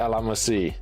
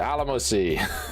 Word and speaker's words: Alamo Sea: I have learned to pronounce how to say the Alamo Sea. The Alamo Sea. In this, and don't mention it though, because I will say it wrong again. Yeah, the Alamo Sea.